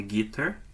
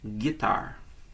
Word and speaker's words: guitar: E atenção especial a essa pronúncia. Não é guitar, é guitar. Ok?